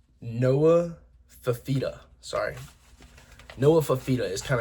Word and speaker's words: Fifita: Fif- Noah Let me pronounce this right. Noah Fifita.